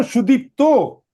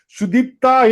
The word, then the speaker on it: Sudipta: Oh, Sudipto. Yes, sir. Okay. Sudipta, he was pronouncing. So you know that would normally be female. It's written like that, sir.